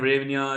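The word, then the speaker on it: hryvnia: वन रेनिया ठीक है इसको ऐसे ही प्रोनाउंस करते हैं रेनिया रेनिया जैसे प्रोनाउंस कर पाओ तुम लोग ठीक है चलो वेरी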